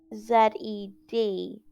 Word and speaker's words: zed: Okay, and in the dictionary, it actually says Z-E-D, okay? And that is the pronunciation that the children are taught, okay?